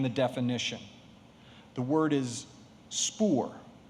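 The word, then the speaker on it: spoor: wild animal that has passed your word is spore are there any alternate pronunciations spore may i have the language of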